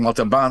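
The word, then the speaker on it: Montalbán: And I'm saying Montalban because there's an accent on the A, and I'm learning Spanish because I'm going to be touring more in Spanish, and that's where the accent should go.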